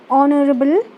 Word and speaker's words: honorable: an honest man, an honorable man. So here we see our heir, honest, honorable. So here these words starts with H, but we do not pronounce the sound of H.